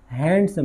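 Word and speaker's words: handsome: am very हैंडसम ही हैंडसम नहीं है इसमें दी साइलेंट है और स्ट्रांग और मजबूत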